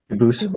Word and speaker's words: Dubus: I know a family with that the same exact spelling in America, they do pronounce it dubis, but you said you pronounce it dubus as the original.